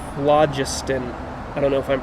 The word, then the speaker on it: phlogiston: a new country people believed in something called phlogiston i don't know if i'm pronouncing that right p-h-l-o-g-i-s-t-o-n phlogiston you know what that is no well